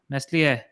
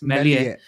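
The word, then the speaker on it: Meslier: we wrap up uh nestle no no no i was actually uh uh taught how to pronounce this after the last part it's melia yes leeds is looked very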